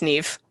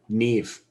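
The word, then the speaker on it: Niamh: village elder it's pronounced nev nev that's weird that's not how that's spelled it's celtic neve uh and uh your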